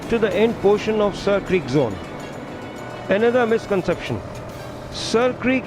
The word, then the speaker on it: Sir Creek: That is Seer Creek, or now, over the years, pronounced as Sir Creek.